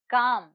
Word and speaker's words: calm: word is no here the silent letter is el and the word is calm so children i hope